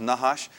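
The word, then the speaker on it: נחש: serpent is nahash right they didn't use vowels in Hebrew but this is pronounced nahash meaning to discover or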